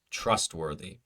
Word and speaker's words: trustworthy: successful or trustworthy successful trustworthy success sess s successful second syllable is stressed so it is successful trustworthy is the first syllable now we have three